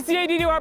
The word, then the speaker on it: CADDY: It's your boy CADDY, pronounced Caddy, running the streets of Johannesburg.